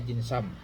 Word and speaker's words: Dinsum: Jinsam ini kalau tulisan anu di anunya jinsum temnya tapi bacanya jinsam.